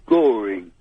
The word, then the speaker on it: Goring: to wording there a place called Goring yeah you know at all rhymes with boring yeah it does RH